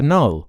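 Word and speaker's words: Knull: Yeah, Null. I was right. How do you spell it? K-N-U-L-L. Oh, Null.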